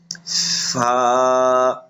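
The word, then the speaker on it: فاء: এই হরফটি উচ্চারণ করার সময় উপরের দুই দাঁত, নিচের ঠোঁটের পেট একবার উচ্চারণ, নিচের ঠোঁটের পেট, তারপরে আপনার লাগাইয়া নিচের ঠোঁটের পেটের সাথে লাগাইয়া উচ্চারণ করতে হবে, বাতাসও বের হবে।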